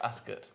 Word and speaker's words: Ascot: it royal ascot dark it's actually pronounced ask it is it yes oh